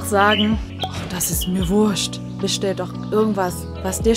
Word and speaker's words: Wurscht: Aber Vorsicht hier, Wurst wird ganz normal geschrieben, wird es aber in diesem Fall, in diesem umgangssprachlichen Ausdruck als Wurst ausgesprochen, also W-U-R-S-C-H-T, Wurscht.